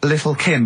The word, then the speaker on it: Lil' Kim: Now, Steve, I see there, it's a track by Lil' Kim, but how are you pronouncing it? I'm pronouncing that correctly, Lil' Kim. Oh, no T's involved.